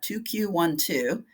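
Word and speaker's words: 2q12: to find 2 q12 you'll notice how I pronounce that 2 q12 it's chromosome 2 the Q arm region one band two so it goes from broadest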